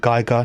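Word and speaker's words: Giger: I'm British, I pronounce it Geiger, Noga.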